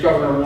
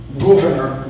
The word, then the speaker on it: Gouverneur: His name's Gouverneur Morris. Gouverneur Morris, or Gouverneur, if it's properly pronounced in the 18th century sense.